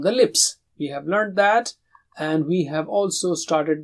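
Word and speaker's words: ث: So if this is teeth and this is the tongue, you touch the tip and blow with a light sound like tha.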